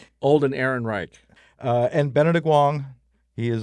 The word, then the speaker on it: Ehrenreich: Julia Garner, Josh Brolin, let me see, make sure I'm pronouncing it right. Alden Enric, Alden Ehrenreich.